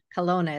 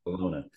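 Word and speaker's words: Kelowna: it was col as I remember exactly Colona Colona is how you pronounce it that's okay Colona and so Stacy and Wesley and I have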